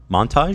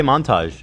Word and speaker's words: montage: say it weird say Montage what do you you say Montage you do inflection onage as opposed to Montage say it like you said it so just putting the emphasis on the wrong syllable no Montage say Montage